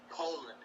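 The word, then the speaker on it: Colón: They're known as Colon. Colon. Think about it. It's spelled colon.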